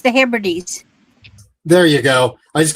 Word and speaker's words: Hebrides: Yeah, outer hybrids or hybrids of Scotland, 100% new wool. I think it's the Hebrides.